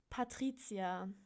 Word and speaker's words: Patrizia: the city card Duisburg my first name is Patricia which is in German pronounced totally different and weird it's called Patrizia yeah that's my name awesome